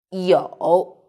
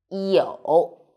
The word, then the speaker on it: 有: In this video, I will teach you how to pronounce it, how to write it, and how to use it. First, let's read it. 有, 有, pay attention.